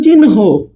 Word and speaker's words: চিহ্ন: যেমন মনে করেন চিহ্ন, ঠিক আছে? এখানে হ প্লাস ন আছে, হ প্লাস ন আছে, তাই তো? কিন্তু উচ্চারণে হয়ে যাবে ন প্লাস হ।